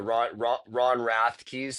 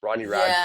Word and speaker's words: Ronnie Radke: like yes, the Machine Gun Kelseys and the Ron Rathkeys and the like. I don't know how to say the name. Ronnie Radke, is Yeah.